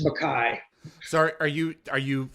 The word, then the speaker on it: Makaj: thank you is it makage did I pronounce that right it's Makai actually Makai excuse me doesn't look like Makai with that J there on the end but that's how we've pronounced it since uh since I